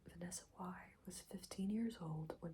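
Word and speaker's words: Vanessa Wye: So let's just read the Vanessa Y, I believe her name is pronounced Vanessa Y, was 15 years old when she had first had sex with her English teacher.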